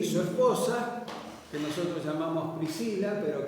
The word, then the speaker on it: Priscila: esposa que Nosotros llamamos Priscila pero que habría que decir en realidad tres kilas así sería pronunciado probablemente el latín no Así que cuando